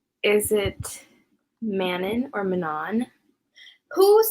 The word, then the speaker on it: Manon: I know there's something else I mispronounced. I feel like it was like Tesserin. No, not another Manon.